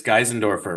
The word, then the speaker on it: Geisendorfer: want to say I don't know how to pronounce this last name but because most of you probably don't but it's gandorfer right yep nailed it so gandorfer I speak